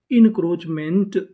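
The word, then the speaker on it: encroachment: सी आर O crow इन crow और जो यहां पे ए लिखा है ये हमारा साइलेंट रहेगा। इसका उच्चारण नहीं करना। सी एच चा इनक्रोच एम एन टीमेंट पूरी meaning इनक्रोचमेंट इंक्रोचमेंट इंक्रोचमेंट इंक्रोचमेंट का मतलब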